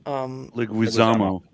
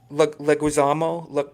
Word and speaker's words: Leguizamo: John, I can never pronounce his last name. Leguizamo. Leguizamo.